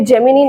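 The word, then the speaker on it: Gemini: नाम है जेमिना स्टूडियो ये जेमिनी नहीं है इसको जेमिना प्रोनाउंस करेंगे और स्टूडियो ही क्यों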